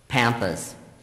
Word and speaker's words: pampas: Pampas. Are there any alternate pronunciations?